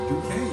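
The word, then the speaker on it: Duquesne: Dude, you pronounced that perfectly. Dukane, huh? That's how you say that.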